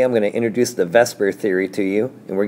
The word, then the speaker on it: VSEPR: have to know what Vesper stands for I know it's spelled like vper but it's so much easier to say Vesper so that's what I say each time here's what they stand